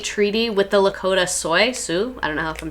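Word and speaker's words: Sioux: plight of Native Americans Nationwide I've heard it pronounced Sue yeah that's what I think too is Sue um awesome glad to hear the confirmation thank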